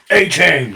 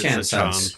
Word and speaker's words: Achane: Puka Nacua, Devon Achane, however he wants to pronounce it. A-Chain. I like A-Chain, but I think it's Achane.